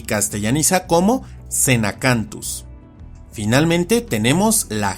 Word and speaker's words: Xenacanthus: baryonyx, o como con el género que se pronuncia y castellaniza como Xenacanthus.